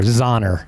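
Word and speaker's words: Xonor: They great Is it like Donner but with a Z? It's X X O N O R. Zoner. Zoner is how you say it.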